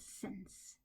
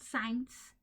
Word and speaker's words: since: With the pronunciation, especially with since. Since, not science, since, okay?